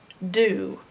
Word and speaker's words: do: Is the ooh sound is an O. Is the normal sound. Ooh is the odd sound. Do. Do you want to spell do? Well, if you do, you have to spell it with an O, not a U. Ooh. Do. Gotta learn it by heart.